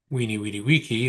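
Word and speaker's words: Veni, vidi, vici: It was Beni Vidi Vici, or Weenie Weedy Wiki, the Yeah. new pronunciation, which was supposedly the old.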